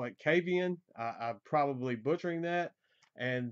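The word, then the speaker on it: Kvaen: the swedish band i'm going to butcher this kavian it's spelled k-v-a-e-n the swedish language is absolutely terrible for a u.s english-speaking person to try to pronounce that they are so different but i i call it cavian i'm probably butchering that and the name of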